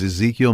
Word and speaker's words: Ezequiel: His name is Ezekiel Montano, and that's spelled Ezequiel, and the last name Montano.